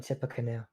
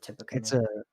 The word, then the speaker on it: Tippecanoe: That's a funny Tippecanoe. It's spelled Tippy, like Tippy Canoe, but I believe you pronounce it Tippecanoe. It's a Native American word.